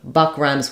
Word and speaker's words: buck: you can think about Buck RS with luck um and book rhymes